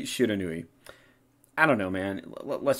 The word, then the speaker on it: Shiranui: It's supposed to mean unknown fire, but that would imply that the pronunciation here should be Shiranhi. Shiranhi. But it's clearly Shiranui.